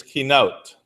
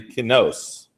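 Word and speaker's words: קינות: The word for lamentation is kinot, or some of those guys say kinos. Those guys in the north, right? Kinos.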